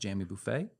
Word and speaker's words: Jammy Buffet: Jamie, I I will say we are technically pronounced jammy buffet.